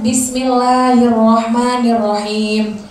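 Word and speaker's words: بسم الله الرحمن الرحيم: Terus selanjutnya bismillahirrahmanirrahim. Itu kan nirrahim, dia ada matobi'i. Jadi jangan sampai salah, maksudnya bismillah jangan terlalu kayak panjangan. Bismillahirrahmanirrahim. Itu cuma dua harokah dibacanya cuma dua harokah.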